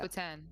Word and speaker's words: poutine: Bro, how did you pronounce Dude. that? Putin. Putin? Yeah, Vladimir. Yeah. poutine.